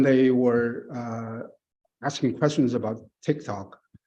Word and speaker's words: TikTok: When they were asking questions about TikTok, they couldn't even pronounce TikTok correctly. They pronounce it as a Tic Tac, which is chewing gum, as far as I understand.